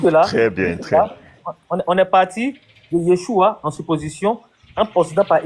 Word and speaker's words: Yeshua: Le A n'est pas littéralement prononcé dans Yeshua en araméen.